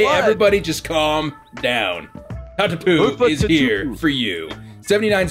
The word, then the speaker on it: Tatupu: I know how to say this, but that's mainly because I grew up watching rugby and like there's about 2 million Tatupus running around playing for Tonga, right? So like Tatupu.